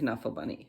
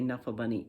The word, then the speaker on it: Knuffle Bunny: Mo Willems' daughter, who really owned Knuffle Bunny, she's called it Knuffle Bunny, but she said lots of people say Knuffle Bunny, and that is fine with her.